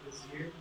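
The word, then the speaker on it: Bézier: My last name's Frnka, and these are Bezier curves. So it's French, Cartier, Poincaré, Bezier. Everyone try and say it? Bezier? Bezier. Bezier, yes. Am I wrong if I said Bezier?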